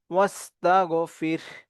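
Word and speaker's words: وَاسْتَغْفِرْهُ: দিয়ে দুইটাকে চাপ দিয়ে পড়ব বিহামদি রব্বিকা রব্বিকা ওসতাগফির ওসতাগফির এখানেও দুইটাকেই আমরা সাকেন করব র সাকেন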